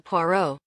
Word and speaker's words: Poirot: Hercule Poirot. Hercule Poirot. Hercule Okay. Poirot. Cool, cool. Hercule Poirot. Poirot. PWAA-ROW is the phonetic.